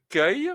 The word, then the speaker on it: cueille: Donc il est important parce que vous voyez ça s'écrit u e i. Donc mais ça se prononce que alors c'est je cueille.